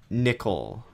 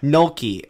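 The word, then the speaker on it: Nölke: my shout out is julia nickel i believe is that how you say it um noel key noki okay that sounds more right um she has a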